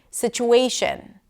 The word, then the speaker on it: situation: Situation. Situation. Way is the primary stress.